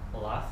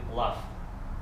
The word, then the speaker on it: laugh: And Denis, he's absent, but I think he said laugh when he said about laughing, and it should be laugh with F.